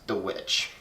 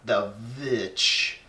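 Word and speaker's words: The VVitch: the new horror film known as The Witch, or The Vitch, as it's spelled out. It's spelled like two V's. It's kind of weird, but it's The Witch, nonetheless.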